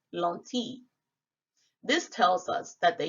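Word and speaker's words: lentille: 12th century a.d and it was french pronounced lonti this tells us that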